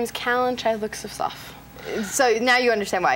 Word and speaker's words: Callan Chythlook-Sifsof: My name is Callan Chythlook-Sifsof.